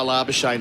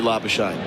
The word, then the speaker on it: Labuschagne: So please do Labuschagne. Yeah. His poor wife as well. I think it was difficult for her, obviously, not being of South African background. She told people to pronounce it like champagne.